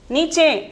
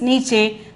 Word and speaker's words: नीचे: नीचे. The pronunciation is नीचे.